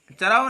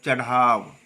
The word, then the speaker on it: चढ़ाव: अब देखो चराव नहीं चढ़ाव।